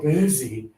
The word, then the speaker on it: busy: For busy, your tongue is lower and there's more air. Busy. Yeah. A lot of students have a habit of saying with a high tongue e, but that's not it. It is. So, I need you to think about your tongue and take a look. Your mouth is medium open. Your tongue is low and extra air is happening.